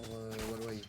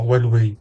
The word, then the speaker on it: Huawei: Toi, tu remets un W en plein milieu du mot alors qu'il y en a pas.